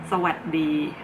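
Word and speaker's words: สวัสดี: And keep in mind that Thai language, when you pronounce it, you omit the last syllable of the pronunciation. Like for example, this Sawasdee, you're not supposed to say Sawasdee. The S is omitted because the final sound of the words are often omitted in Thai language.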